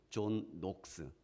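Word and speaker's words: 존 녹스: 여러분들 중에서 들어본 이름입니다 존 낙스 존녹스 뭐 이렇게 발음이 맞아요 그 전까지는 캣홀릭 이었죠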